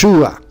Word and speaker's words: Yeshua: hebreo que dice yeshua a la derecha dice sonido que se pronuncia así Yes yeshua su equivalencia en griego